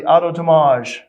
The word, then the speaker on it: Anatomage: be it, but the Anatomage. Is that right? Anatomage. Anatomage. Like anatomy, anatomage.